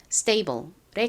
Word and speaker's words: stable: stable s의 바로 뒤에 이렇게 T가 오면 좀 세게 발음되는 경향이 있죠. 그래서 stable보다는 실제 미국식 원어 발음으로는 stable에 가깝게 발음됩니다.